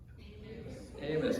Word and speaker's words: Amos: Rhymes with famous. Amos. Famous Amos.